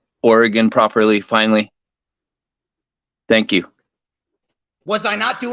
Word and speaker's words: Oregon: it seems to be people on the East Coast, they think Oregon is pronounced Oregon.